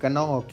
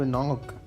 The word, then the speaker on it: knock: और ये गाइस ये जो इंग्लिश का साइलेंट वर्ड होता है ना, इससे मुझे इतना गुस्सा आता था ना जब मैं स्कूल पढ़ता था। मतलब नहीं, जब वो साइलेंट है तो उसको लिखना क्यों है मुझे बताओ। नॉक है तो NOCK नॉक, नहीं KNOCK, एक वर्ड साइलेंट होगा।